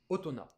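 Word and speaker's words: 大人: Purement japonaise, otona. Tu peux même pas le prononcer avec...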